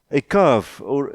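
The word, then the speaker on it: איכה: Dit is iets in die rigting van Ekav, ek het dit nou, die uitspraak is Ekav, né? Eka, ja, dis reg.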